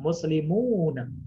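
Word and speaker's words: مسلمون: Maka dia harus dibaca panjang 2 harokat. Muslimuna. Ya, kalau nggak dibaca panjang, muslimuna, ya, maka nanti bisa menyebabkan ya perubahan makna, Ustazah. Muslimuna, apa artinya muslimuna? Ya, maka cara membacanya harus dipanjangkan 2 harokat.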